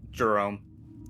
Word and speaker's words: Jerome: Is it Jeremy or Jerome when it's spelled like that? Jerome.